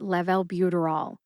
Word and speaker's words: levalbuterol: together and you get level buterol emphasize Lev and bu officially gets the most